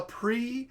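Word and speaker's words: prix: wrap it's a wrap La pre so p-r-i-x duh danger spelled the same way donger all right so there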